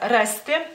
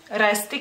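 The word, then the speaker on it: rasti: palabra y por ejemplo la palabra reste reste que es encontrar este la pronunciaría de la misma manera como si si fuera por ejemplo en medio de la palabra este permas permas que sería primero por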